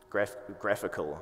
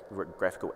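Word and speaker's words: GraphiQL: Graphical, I think is how it's said.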